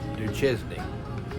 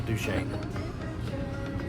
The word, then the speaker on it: Duchesne: pronounce it here CU I was going to say du chesy but no that's wrong it's du Shane um if we're both